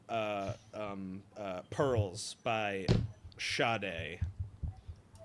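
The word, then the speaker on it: Sade: Is that it's shade? I always thought it was sad. No, it's shade. I did not know there the Well, I guess the H isn't silent. It's invisible cuz it's spelled S A D E, right?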